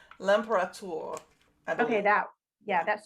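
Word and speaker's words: L'Imperator: called the emperor liberator am i saying it wrong yes we'll put it in the show notes uh so that those of you who actually can read the french can read it i believe it's lampara okay that yeah that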